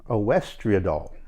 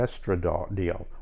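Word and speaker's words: oestradiol: as and i want to make sure i pronounce this right a wester adult or estradiol o-e-s-t-r-a-d-i-o-l but that's pretty much known as estrogen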